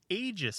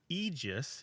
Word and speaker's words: aegis: NBC and BBC and you'll find egis but by the early 2000s maybe the late 9s you can find the Aegis pronunciation show up in Oxford dictionaries and Mariam Webster dictionaries listed as an American pronunciation usually given as the second pronunciation which means it's still not the most common pronunciation now that means it's acceptable but if you have a choice egis is still probably the best one I would say wouldn't